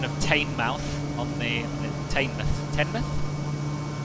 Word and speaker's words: Teignmouth: Tenmouth? I don't know. I always pronounced it Tinmouth. Tinmouth? Tinmouth, yeah. Yeah, like as in tin foil.